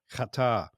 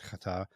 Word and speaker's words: Qatar: Is the country called Qatar. Now, I'm trying to pronounce it correctly. Um, for those who've joined us on our uh, Goway Pro Travel Academy about katar, I actually have a section from a katari